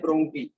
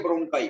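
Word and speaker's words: bronchi: अब इनको क्या कहते हैं, इनको कहते हैं ब्रोंकी। ठीक है, ब्रोंकाई, ब्रोंकाई सही प्रोनाउंसिएशन है इसकी, इसको कहते हैं ब्रोंकाई।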